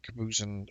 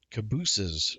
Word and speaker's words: cabooses: of caboose over there it is not kabusin or cabies like you would say that goose geese uh the proper way to say it is cabooses according to um some